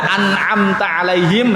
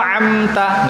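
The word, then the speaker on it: أنعمت عليهم: Antum nggak boleh baca an'amta alaihim menjadi amta, nggak boleh.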